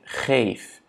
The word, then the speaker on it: geef: Donc, geven, du coup, ça va être ik geef. On a le E long, ja, parce qu'on a voyelle, consonne, voyelle. Ça fait que la première voyelle soit prononcée de manière longue.